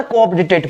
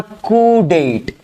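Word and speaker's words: coup d'état: जीवो पढिबा पई हमें केमिति पढिबा याकू सर कोऑपडिटेट पढिबा किंतु एब्सोल्युटली रॉन्ग ये होछि मिस प्रोनाउंसिएशंस ठीक अछि याकू केबे पढिबानी जे कोऑपडिटेट लिखाइ छै बेली यार ताना सर एग्जैक्ट राइट प्रोनाउंसिएशंस कोन हबो ना कुडेट भल की देखो कोन लिखि छि मु कुडेट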